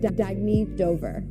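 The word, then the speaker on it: Dagne Dover: good you can live life intentionally oh it's pronounced dagy Dober dagy means New Dawn a new dawn for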